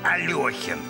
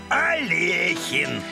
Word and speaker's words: Алехин: александр не саныч алехин многие произносят фамилию как алёхин настолько многие что это уже не кажется ошибкой но все таки он был алехин в семь лет мама